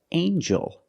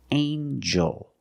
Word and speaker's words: angel: have with eel angel in this word the G makes a JJ sound like jump and Juice together with the n a regular n sound not the nasal but the regular n anel angel angel this is an angel